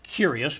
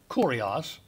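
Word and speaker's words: κύριος: lord and this is the word kurios not curious but kurios and um it is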